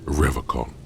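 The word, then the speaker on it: Revachol: He pronounces Revacon with a hard K, unlike other people.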